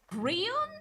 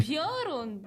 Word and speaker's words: Piorun: Piorun. It doesn't even have R in front of the I.